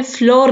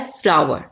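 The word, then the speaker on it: flour: आटा wheat फ्लावर फ्लावर इसको अपने फ्लोर में पड़ना ठीक एयरटेल को इंग्लिश में कहा जाता है फ्लावर जैसे फूल की आवाज निकलती है न फ्लावर ऐसे आटे की आवाज होगी फ्लावर ठीक है आर्ट एयर फूल की आवाज एक जैसी है इनको कहा जाता है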